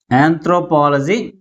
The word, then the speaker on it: anthropology: That means third syllable from the last is pronounced with a greater force comparing with other syllables.